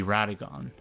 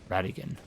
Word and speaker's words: Radagon: that's supposed to be radagon Radigan I suppose it would be gone if it were spelled g-o-n-e but it's spelled g-o-n so Radigan I really don't like